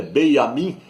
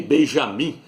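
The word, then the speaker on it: בנימין: eterno Ministro de Israel o nome dele é beamin na Natal não é nem Benjamim porque no hebraico não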